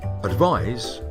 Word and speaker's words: advise: like an s and the verb advise has an s which is pronounced like a zed english is most certainly